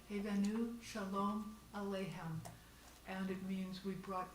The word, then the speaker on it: Hevenu Shalom Aleichem: It's pronounced Hevenu Shalom Aleichem. Hevenu Shalom Aleichem.